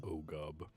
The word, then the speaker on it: Oogogob: Pronounced Ogub.